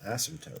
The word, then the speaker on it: asymptote: we're getting a horizontal asymptote so horizontal asymptote the p is silent asymptote if you can kind